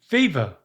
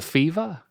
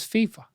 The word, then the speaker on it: FIFA: FIFA. FIFA. I got the fever.